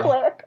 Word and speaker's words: Quip: It's pronounced Quip.